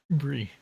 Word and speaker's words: Bree: Bree. Yeah, Fmod's Yeah, new to me. I have not really. I wasn't sure how to pronounce the 2 3s. I'm gonna go get that they're E's. Like the Brie.